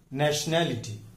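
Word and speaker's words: nationality: ये देखिए, न्या पर स्ट्रेस आता है, नेशनैलिटी।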